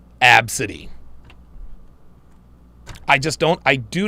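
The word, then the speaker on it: Abcde: Ladasha I seen I've I've seen name spelled a b c d e pronounced absidy I just don't I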